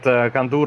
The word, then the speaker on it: Kandur: Yes, you said it right, Kandur, of course, as his friends call him Gondor.